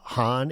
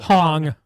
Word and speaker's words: Hong: Uh, can't even pronounce her name. Francesca Han. Is it Hong?